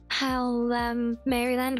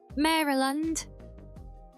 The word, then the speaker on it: Maryland: You say it like the name Mary and then land. Yeah, that's how I was saying it, but apparently that was wrong.